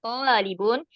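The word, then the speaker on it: طالب: Kalau tulabun itu jamaknya. Kalau tolibun itu mufradnya. Berarti setelah to-nya ada matnya. Itu kalau mufradnya tolibun. Kalau jamaknya to-nya itu domah, bukan fathah lagi.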